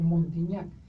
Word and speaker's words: Montignac: Hay tablas de alimentos, Araceli, incluso hay una tabla de un investigador francés que se llama Montignac, así se escribe, Montig con G, Nac, o Montignac.